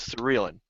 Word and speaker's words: Serellan: So it's actually pronounced Serellan, but yeah, it happens all the time. All right. Well, so now from now on, it is Serellan.